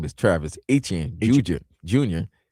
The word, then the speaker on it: Etienne: Travis Etienne who's now whose real name is Travis Etienne Junior Junior. He's Creole. He's Haitian. So, that's why He's Haitian. That's why it's That's why it's Etienne. Etienne.